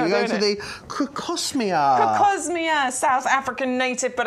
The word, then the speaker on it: Crocosmia: No, crocosmia.